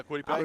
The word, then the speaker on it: Kwity Paye: They got Buckner, they got Muhammad, and they got Kwity Paye. How you pronounce it? Yeah, Kwity Paye.